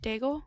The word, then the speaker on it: Daigle: Daigle.